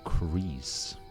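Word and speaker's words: kris: It's pronounced crease according to Google. It's a Malaysian word.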